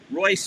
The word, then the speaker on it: Reuss: Royce, as you saw on the clip, is spelled Reuss.